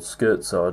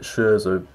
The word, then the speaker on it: Scherzo: incredibly well-known Doctor Who story the Scherzo or skirt side and how you really pronounce it but I think a lot of people call it Scherzer so yeah this is written by the legend